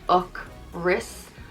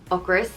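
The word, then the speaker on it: ocras: on me a chris is hunger and is pronounced och ris ocris i taught my son and to use this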